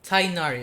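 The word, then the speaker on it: Tighnari: Okay, Tainari. Okay, I know how to pronounce it now.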